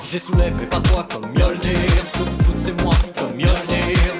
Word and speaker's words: Mjolnir: On vient d'écouter une de tes musiques en introduction, intitulée, alors j'ai du mal à la prononciation du titre. Je vais te laisser essayer au moins une fois. Mjolnir 2000.